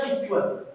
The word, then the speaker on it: SQL: it is also square it is pronounced as sequel and see mysql uses